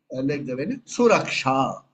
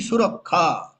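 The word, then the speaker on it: सुरक्षा: not, say, for example, let's take the word, Suraksha. In Sanskrit, Suraksha is there. In Bengal, it will be Surakha. So it's a mantra lopa because there's a mistake in pronunciation.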